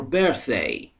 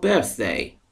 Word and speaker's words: birthday: When is your birthday? When is your birthday? Birthday میدونید یعنی تولد. Birthday نیستا. Birthday. زبان بین دندانهای بالا و پایین قرار میگیره تا تلفظ TH به درستی بیان بشه.